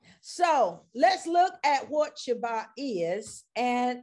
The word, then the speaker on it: Shabbat: the shabbat blessing and that is how it's pronounced in hebrew the shabbat blessing in other words the blessings that we get by observing shabbat and shabbat is the hebrew word for what